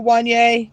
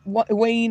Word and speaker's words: Wanye: So hey Wanye, welcome in. Um, See, I know how to say his name, unlike poor Hustle. Poor Hustle calls him Wayne all the time.